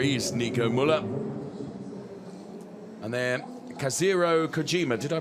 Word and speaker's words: Kazuhiro Kojima: And then Kazuhiro Kojima. Did I pronounce that correctly?